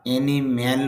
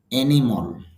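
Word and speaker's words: animal: যদিও আমরা অ্যানিম্যাল বলি, আসলে অ্যানিম্যাল হবে না, ইংরেজিতেও তার মূল সাউন্ড ফলো করতে হবে।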